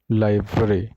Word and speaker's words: library: The correct form is लाइब्रेरी, लाइब्रेरी, लाइब्रेरी, LAIBRUHREE। बट यहाँ पे देखो सी, लाइब्रेरी, यहाँ पे लाइब्रेरी, right? There are three different syllables, but whenever you will pronounce this word, then you have to connect this I with that B, right?